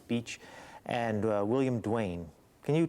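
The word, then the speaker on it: Bache: Now, there are 2 main characters associated with the Aurora, Benjamin Franklin Beach, spelled B-A-C-H-E. Phonetically, Beach, and William Duane.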